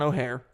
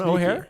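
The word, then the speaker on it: O'Hair: It's like O and then hair.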